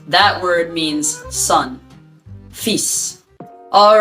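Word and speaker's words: fils: to pronounce it and the l is left alone it's not pronounced that word means sun feasts all right those are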